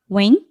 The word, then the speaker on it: Nguyen: Beyond this but yes my last name is pronounced wing it is a very common Vietnamese last name I sometimes tell people